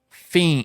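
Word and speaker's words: FE!N: And he played this song, which is called Fiend. It's spelled F-E-I-N, which you would pronounce that Fein, I think. But he says it like fiend, and I think he means the word fiend, like you're fiending for something.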